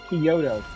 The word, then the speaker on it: Kyoto: Kyoto. Like the the capital city of Japan.